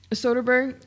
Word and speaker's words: Soderbergh: Soderbergh, or is that the original writer of the